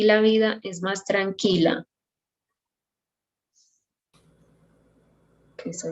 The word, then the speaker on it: tranquila: For Tiffany, I would like you to start pronouncing the R when it sounds, in this case, for example, in tranquila, the R sounds like when you, it's called flap. When you do, for example, little or water, it's like tra.